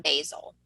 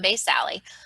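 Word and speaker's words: basale: i'm spelling it okay some people call it stratum basil i say stratum based alley bottom layer and this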